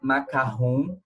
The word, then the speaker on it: macaron: O macarrão se pronuncia macarrão, como se tivesse 2 S's, mas se escreve macaron.